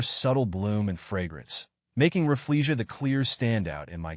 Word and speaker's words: Rafflesia: it's typically pronounced as Rafflesia. The emphasis is on the first syllable of each word, with a slight stress on the E sound in Rafflesia and the AR sound in arnoldii.